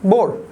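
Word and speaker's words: Bohr: এইচ আছে কিন্তু বোহর না, কিন্তু উচ্চারণ বিজ্ঞানী নিলস বোর।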